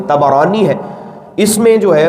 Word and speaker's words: طبرانی: حدیث کو امام طبرانی نے اس کا صحیح تلفظ طبرانی ہے، اس میں جو ہے وہ روایت کیا